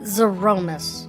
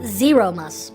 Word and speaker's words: Zeromus: save ashdaya zoromis okay we're pronouncing it zaromas I always pronounce it zeromus but zoromas okay like Z Roman zeromus okay I've got